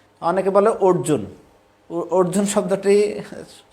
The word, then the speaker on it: অর্জুন: তো এটা অর্জুনবাচ অর্জুন বলেছিলেন অর্জুন। অনেকে বলে অর্জুন। অর্জুন শব্দটি উচ্চারণ ঠিক নাই।